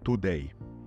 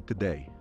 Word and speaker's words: today: Jako Polak czy Polka zapewne powiedziałeś today. Zgadza się? Jeśli tak, daj lajka koniecznie pod tym wideo. Natomiast jeśli posłuchasz, jak wymawiają to słowo Brytyjczycy czy Amerykanie, to nie ma tam w ogóle u.